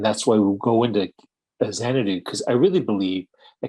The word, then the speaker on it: Xanadu: That's why you're investing in things really early, like Xanadu.